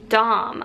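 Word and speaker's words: Dohm: will put it in the description box the Dom I have a dom dom for babies that's spelled D o h m Dom for baby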